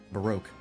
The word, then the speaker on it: Baroque: Baroque. I'm still calling him Barak because that's how it's spelled, but still.